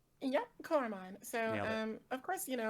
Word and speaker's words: Coromon: Devi, you have something here called Koromon. Am I pronouncing that correctly? Yep, Coromon.